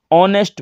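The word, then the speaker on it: honest: है कि कि एक होता है साइन ए साइलेंट यहां पर इसको होने की बजाय ऑनेस्ट बोला जाता है जैसे कि एन डबल भी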